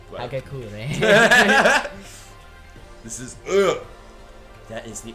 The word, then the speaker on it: Hagakure: Hagakure. What? Hagakure.